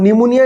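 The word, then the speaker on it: pneumonia: খুব একটু নতুন ধরনের পি দিয়ে শুরু এবং পি টা কিন্তু সাইলেন্ট পি সাইকোলজি স্পেলিং এ যেমন পি সাইলেন্ট থাকে নিউমোনিয়া স্পেলিং এও কিন্তু পি হচ্ছে সাইলেন্ট কাজেই স্পেলিংটা তোমরা আন্ডারলাইন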